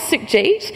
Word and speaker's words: Sukhjit: barrier of difference and really clap out the syllables in my name so my name is Suk Jeet and we're going to